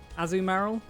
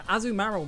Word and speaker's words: Azumarill: I think either are acceptable. And if you go back and watch the video, I pronounce it both ways. So I don't know what all the complaints are about. The Azumarill makes more sense, because it's already Marill, and it evolves to Azumarill.